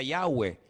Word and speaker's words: Yahweh: Ese nombre se pronuncia Yahweh.